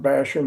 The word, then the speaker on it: Bassham: the way yeah it's it's like bash him in the nose way to remember how